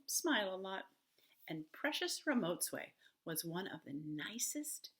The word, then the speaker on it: Ramotswe: and I like this it's teaching us how to say her name Ram boats way Ramos this way but